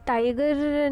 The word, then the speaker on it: taiga: इसमें क्या होता है कि बोरियल फॉरेस्ट ग्रो इन, तो ये जो है ये टाइगर नहीं होगा, ये जो है ये टाइगा है।